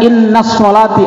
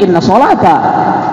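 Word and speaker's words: إِنَّ صَلَاتِي: Awas tadi bu, saya sering membaca dan juga mengulang, jangan bacanya inna sholati, awas, jangan pakai tasdid, ini jadi khabar inna. Kalau baca pakai tasdid berarti inna sholata.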